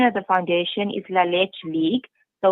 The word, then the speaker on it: La Leche: of the foundation is La Leche League. So La Leche. Okay. Okay. It is a Spanish name and means the milk. Okay, gotcha. So it's Okay. La Leche League.